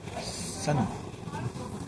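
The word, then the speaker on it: Sannois: Sanois est une ville où s'écrit S-A-N-N-O-I-S. Sanois.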